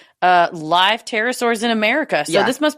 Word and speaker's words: pterosaurs: Pterosaurs is spelled with a P.